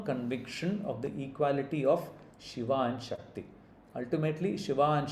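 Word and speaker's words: शिवा: In name, one is Shiva and the other is Shiva. Shiva and Shiva. Remember the accent on the A at the end.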